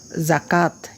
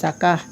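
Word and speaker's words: زکات: হ্যাঁ, এবং আমরা আরবিতে কি করতাম? গুলতার উপর ওয়াকফ করলে হে হয়ে যায় না? হা এর মতো উচ্চারণ হতো জাকাহ, কিন্তু এখানে আমরা হে পড়ব না, এখানে তাই পড়ব, জাকাত, এভাবেই পড়ব।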